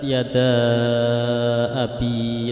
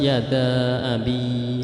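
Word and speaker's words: يدا أبي: Nah, yada dalam tulisan mushaf itu ada tanda mad, yaitu alif bertemu dengan hamzah. Yada abi. Nah, dalam hal ini itu hukumnya mad jaiz munfasil. Jadi boleh dibaca panjang, boleh dibaca agak pendek seperti mad tabi'i 2 harokat.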